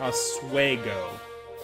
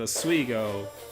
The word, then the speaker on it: Oswego: I went to college they call it a sway go there they they pronounce that a sway go in Oswego but we pronounce that ass we go I'm not in the